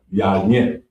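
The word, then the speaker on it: יין: Next up on the list is wine, and it's pronounced yayin.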